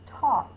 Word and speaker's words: talk: going to say R the next one is Talk t t a that also has a silent L remember silent letters go in with another letter because they don't get their own box because these boxes are representing sounds not letters so the silent L goes in with the K that's talk so when